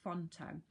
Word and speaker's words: Phonto: you see that there pH Ont o is how they spell it font o when you open up